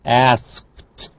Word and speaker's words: asked: Again, k, unvoiced, so asked.